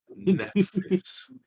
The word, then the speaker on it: Nephthys: Nephthys. You pronounce the F before the TH.